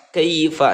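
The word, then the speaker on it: كيف: Selanjutnya kaifa, kaifa. Nah, ini adalah yaklin ya. Huruf lin rumusnya ketika ada huruf ya atau wawu yang sebelumnya berharokat fathah, ini dibaca lunak dan dibaca pendek ya, tidak boleh dibaca panjang.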